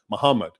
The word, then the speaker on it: Muhammad: If you write Muhammad's name today, there is no vowels because people know it's pronounced Muhammad. Okay?